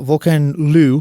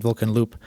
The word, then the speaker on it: VolcanLoup: Uh Vulcan Lu, which I guess is how you pronounce it now. I always said Vulcan Loop, but uh he is French Canadian.